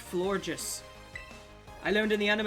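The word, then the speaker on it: Florges: been sending out as flourget but it's not it's it's pronounced floor just I learned in the anime it's pronounced floor just like the word gorgeous but flojus but I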